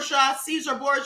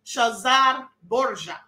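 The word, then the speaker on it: Cesare Borgia: him Caesar shazar bour Caesar bour that's how we've been pronouncing it but it's actually shazar bour okay this was Leonardo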